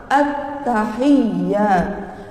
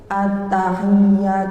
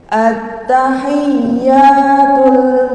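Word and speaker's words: التَّحِيَّات: Contoh yang pertama, at-tahiyyat. Nah, niki menawi kita bacanya nggak ditarik, at-tahiyyat misalnya, at-tahiyyat, itu akan seperti tasydidnya tidak terlihat.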